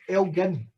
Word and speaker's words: Elgin: That is pronounced Elgin. Elgin is the pronunciation of it.